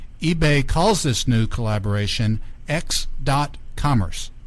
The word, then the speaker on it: x.commerce: small size we uh we usually pronounce the dot x.commerce okay x.commerce is a